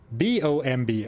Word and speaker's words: bomb: And then B-O-M-B. Oh, it's boom, right? So, but no, of course, it's bomb. Why would it be boom?